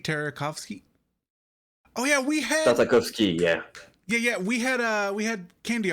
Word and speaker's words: Tartakovsky: How do you pronounce the dude names? It's Tartakovich, I think it's how you pronounce his name.